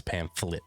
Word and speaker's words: pamphlet: It's it's pamphlet.